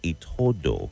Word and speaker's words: Itodo: And my confirm, well, it is Itodo, right? Some people just mispronounce it sometimes, but it's pronounced Itodo. So please take note.